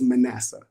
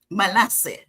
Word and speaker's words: Manasseh: The correct pronunciation is Manasseh. Manasseh.